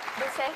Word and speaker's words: Dessay: Est-ce que je le prononce bien? On dit Dessay ou Dessay? Dessay.